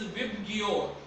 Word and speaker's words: VIBGYOR: The pronunciation of this abbreviation is VIBGYOR. What? VIBGYOR are the 7 colors of the rainbow.